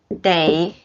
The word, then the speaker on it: 得: They, the pronunciation is D-E-I. They. Okay. I have to leave now in Chinese. We remember it's 我 have to. They leave.